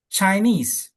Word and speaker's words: Chinese: Nah, tadi Bapak yang bunyi dominan itu adalah nie ya, Chinese kan. Jadi bukan Chinese gitu kan enggak ya. Chinese kan nie itu kan dominan di sini.